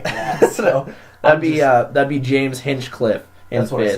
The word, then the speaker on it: Hinchcliffe: So that'd be James Hinchcliffe in that's what fifth, I said. not Hinchenscliff. There's no Ian in there.